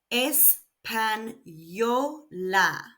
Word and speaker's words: español: So Spanish is espanol and espanol. You may also note that there are no accents needed here. Espanol ends in a consonant other than n and s. So the stress falls on the last syllable.